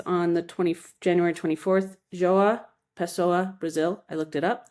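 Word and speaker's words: João Pessoa: Joaha Pesoa, Brazil.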